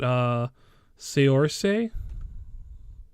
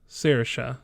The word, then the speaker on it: Saoirse: But yeah, next on the list is I'm sorry, I forgot how you pronounce it. Seorshe? Saoirse.